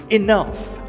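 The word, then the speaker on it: enough: Spelling नीचे आपेलो छे, उच्चार ई न फ, इनफ, इनफ एटले बहु थयु, इनफ, वेरी गुड।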